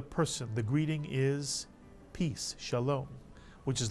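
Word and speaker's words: שלום: own new syllable so the first syllable of this word is simply sha now how about the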